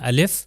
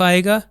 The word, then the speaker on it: ا: तो जहां पर भी अलिफ आएगा वो अलीिफ उसी तरह बयान होगा। यानी जिस तरह अलिफ मैं कर रहा हूं। उसकी कोई साउंड या उसके ऊपर मद्दा नहीं लगाना। आ नहीं कहना अलिफ कहना है।